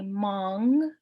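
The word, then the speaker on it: maang: is a crow um the n g so it's all it's the same as in song so you'd say Mong which is a loon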